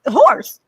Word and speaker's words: HORS: I mean, spell it in your mind. HORS, horse, right? The horse.